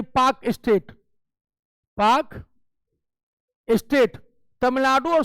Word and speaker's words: Palk: पाक स्टेट, पाक स्टेट में PALK, this is not Pakistan state, पाक एल साइलेंट होता है। कैसे जो है जो टॉक पाउडर PLC होता है, इसी तरह ये पाक स्टेट, पाक स्टेट तमिलनाडु